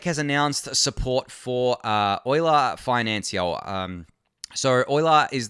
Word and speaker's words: Euler: it's Euler it's up it's named after the mathematician the famous mathematician who I can't remember